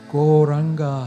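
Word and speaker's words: Gauranga: these beautiful mantras called goranga koranga has full four syllables go raah and what it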